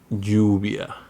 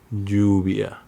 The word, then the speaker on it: lluvia: In most of Latin America, it sounds like a Y, like in yes. Similar to the Arabic letter Ya, like llave, or lluvia, lluvia. There are some regions in South America when it's pronounced a little bit different, like llave, lluvia. Or in Argentina and Uruguay, it sounds like llave, lluvia. All are correct.